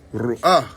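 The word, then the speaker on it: רוח: In Hebrew, it's ru'ah, which is still ruh, all right, because a lot of people think that this is supposed to be pronounced ch or ka, but it's really more of a H sound, okay?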